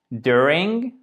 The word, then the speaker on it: during: Cependant, during, ok? During, puisque là, je l'ai souligné pour montrer le fait que c'est la première syllabe qui a accentué, d'accord?